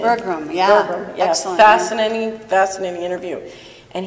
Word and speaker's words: Berglund: Is that how you pronounce his name? Berglund, yeah.